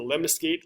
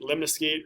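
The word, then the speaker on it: lemniscate: to go to is the lemon skate lemna skate remind remember remind excuse me rhymes with figure eight so lemon escape figure eight sure is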